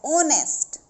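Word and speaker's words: honest: अगर मैं लिखती हूं ऑनेस्ट तो मैंने हो नहीं पढ़ा इसको यहां से पढ़ा है ऑनेस्ट तो यह भी ध्यान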